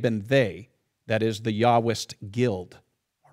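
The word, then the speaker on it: Yahwist: all you have the yahwest all right i know it says j but in german j is pronounced y so it's the yahwest um the yahwest basically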